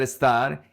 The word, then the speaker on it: estar: Remember that estar is the only verb in the simple present that has the stress in the last syllable.